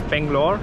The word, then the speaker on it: Bangalore: On my Google Maps it's Bangalore, I think that's the English pronunciation, Yeah, it's but on the Bangalore. locals I saw Bengaluru, so you can say what is better to say.